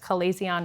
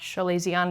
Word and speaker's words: chalazion: So, chalazion, something very commonly seen. It is Greek, so it is pronounced kuh-lay-zee-un, not shuh-lay-zee-un, though many people do call it that.